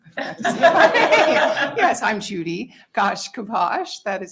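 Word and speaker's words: Gaiashkibos: Yes, I'm Judy Gaish-Kibos. That is spelled G-A-I-A-S-H-K-I-B-O-S, and I'm the Executive Director of the Nebraska Commission on Indian Affairs.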